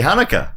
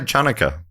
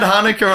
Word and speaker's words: Hanukkah: heard some people say chuna was that I think I don't think anyone's ever said that what do you mean it's hanuk with a silent ch I thought I thought